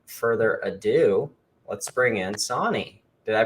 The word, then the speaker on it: Sanni: So without further ado, let's bring in Sonni. Did I pronounce that right? Almost. Yeah, it's pronounced Sonni.